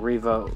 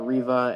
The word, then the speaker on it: Reva: And yes, I've been pronouncing Reva completely wrong these last couple of months that we've been talking about Obi Wan Kenobi. It's been Reva this entire time, and I've been saying Reva.